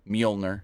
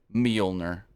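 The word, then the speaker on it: Mjölnir: horn hey since Saturday if you're going to say it say it right don't say had a Thor Thor moment with the hammer don't say the hammer Call It by its real name mner it's Milner uh yeah kid vicious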